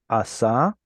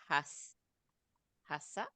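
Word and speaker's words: עָשָׂה: Asa. Hasa. No, it's just an ayin. So it's asa. Asa.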